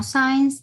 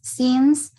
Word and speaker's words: since: Don't forget the pronunciation of the word since. No science, es since.